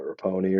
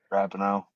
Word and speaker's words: Rapinoe: I know her last name was like what, Raponi or something like that. Rapinoe. Megan Rapinoe. Yeah, whatever the fuck her last name is. I Yeah. never say it right. Every time I just say Rapapone.